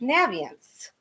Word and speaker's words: Naviance: that the name of this product is actually pronounced naviance and i've been mispronouncing it for seven years